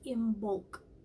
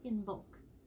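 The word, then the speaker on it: Imbolc: It's spelled I-M-B-O-L-C. So it's in bulk, not in bulk.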